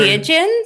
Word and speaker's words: entheogen: First of all, tell me, how do I pronounce this word? So the word, entheogens?